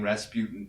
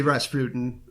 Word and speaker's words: Rasputin: I would say Rasputin. Oh, okay. I thought it was like a raspberry pun. I originally just thought it rhymes with Tootin', but then I realized, there's overtones.